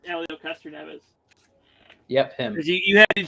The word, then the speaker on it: Helio Castroneves: I can't pronounce this guy's name. Helio Castroneves. It's Helio Castroneves.